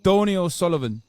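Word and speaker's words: Donie O'Sullivan: No, it's got one N in it. Donnie O'Sullivan, like Donald.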